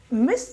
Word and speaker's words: Ms: MS को हम मिस नहीं प्रोनाउंस करते, Z का साउंड आता है, हम इसको मिस शर्मा प्रोनाउंस करेंगे।